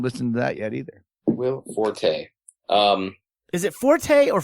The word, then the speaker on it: Forte: it because it's actually the proper pronunciation of FO RTE is fort I think it's pronouncing his forte well it's it's now pronounce forte but originally it was fort so how is he